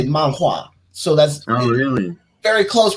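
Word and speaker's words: 漫画: So Japanese people say manga, and Chinese people say manhua.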